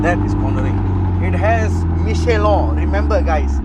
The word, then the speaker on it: Michelin: It has Michelin. Remember, guys. Remember how to say it. Michelin, not Michelin. Michelin.